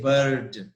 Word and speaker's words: bird: We don't pronounce the letter R.